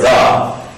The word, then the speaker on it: the: is up so just make sure that when you say the word the that it rhymes with the word up the and up so